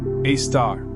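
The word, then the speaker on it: Sagittarius A*: The Milky Way's central black hole, Sagittarius A, pronounced A star, has a mass of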